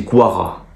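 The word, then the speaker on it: Gvardiol: c'est pas sur gvara on dit pas gvara on dit Guara enfin c'est guisha quarelia en fait le V se prononce comme un W donc ça j'ai appris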